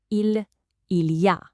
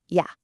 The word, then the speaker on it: il y a: Textbook French would say, il y a, which, means there is or there are. 3 distinct sounds. Now, native speed? Yeah, just yeah. The il is completely gone. The whole thing gets squished into one single quick sound.